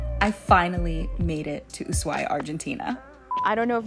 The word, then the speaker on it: Ushuaia: asked a local and they said the H is silent and it's more like Ushuaia.